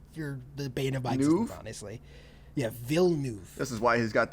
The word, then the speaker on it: Villeneuve: is also like i apparently said his name wrong which is denny villeneuve sorry it's not villeneuve it's villeneuve i was making his name a lot like a lot harder than i had to before danny really